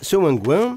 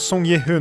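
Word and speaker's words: 성기훈: Dans cette séquence, Seo Wang-Gwen est venu au commissariat pour les alerter sur le jeu auquel il vient de participer. Oui, ça se prononce Song Ye-hun en coréen.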